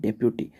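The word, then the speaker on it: deputy: अक्सर हमारे यहाँ उसको डिप्टी पढ़ा जाता है, आपने सुना होगा डिप्टी collector, डिप्टी CM. Correct pronunciation है डेप्यूटी।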